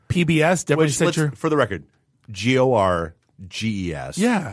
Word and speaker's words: Gorges: Eric Gorgeous, The Craftsman's Legacy, PBS. Definitely for the record, GORGES.